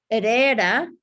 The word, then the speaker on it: Herrera: Very important when you're pronouncing names for the H, the silent H. Hernandez, Herrera, Hector, not H.